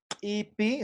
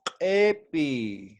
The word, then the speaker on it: epi: yo no voy a decir ipi, sino voy a decir epi, ¿no?